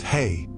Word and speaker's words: hei: The hay, pronounced hay, is a crown or wreath of flowers worn on special occasions throughout Polynia.